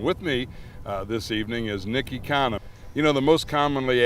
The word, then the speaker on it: Ekanem: people you can just pronounce it economy without the Y.